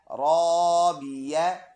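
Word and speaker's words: رابية: या ज़बर या, राबिया। ता दो ज़बर तन, राबियतन। स्टॉप करेंगे, हा ये ता हा पे कन्वर्ट हो जाएगा, दोनों ज़बर साइलेंट, राबिया बन जाएगा।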